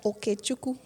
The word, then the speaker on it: Okechukwu: Bernice gave us the proper Canadian version of it. Yeah. You know? Janet gave us the Nigerian Igbo pronunciation.